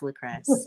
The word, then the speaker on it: Lucress: And when people try to add a couple syllables to my name, I'm like, no, that's not my name. It's just Lucress. It's just Lucress.